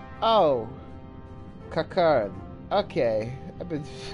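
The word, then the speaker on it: Qiqirn: Among you are village elders, refugee leaders, envoys from the Ananta and the Kikern. Kikern? That's how they're how it's pronounced? Oh. Kikern.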